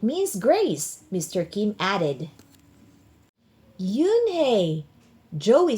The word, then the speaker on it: Unhei: Yes, it's pronounced Yunehi and it means grace, Mr. Kim added. Yunhi, Joey said slowly and this time perfectly.